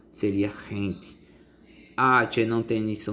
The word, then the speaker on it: gente: for g g em a palavra gente a pronúncia teria hente a tia não tem início unido h e